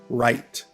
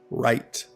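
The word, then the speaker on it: write: has a silent heat finally right has a silent w alright guys thank you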